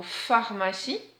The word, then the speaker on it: pharmacie: Oui, c'est le mot pharmacie, toujours avec le P et le H. Alors un autre petit piège est la lettre C qui chante S ici puisqu'elle est entre deux voyelles et surtout il y a une voyelle après et la voyelle I surtout. Et ne pas oublier le petit E muet.